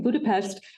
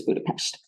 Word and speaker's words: Budapest: in Budapest Hungary and I'm pronouncing Budapest nothing wrong with my speech that's how the hungarians pronounce their s's so when you get over there you're going to see that it's referred to as Budapest uh he said everything's